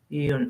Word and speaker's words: Jung: Yeah, you pronounce him Carl Jung. Jung.